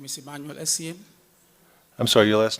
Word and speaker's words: Essien: My name is Emmanuel Essien. I'm sorry, your last name? Emmanuel Essien. First name is spelled Emmanuel.